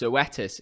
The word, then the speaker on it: Zoetis: this actual name here i mean it's actually pronounced zoetis and i was a bit confused by this